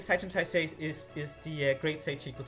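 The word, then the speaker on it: 斉天大聖: Seitan Taisei. Seitan Taisei. Which is like a Japanese pronunciation of the kanjis that made up the words for Great Sage equal to heaven.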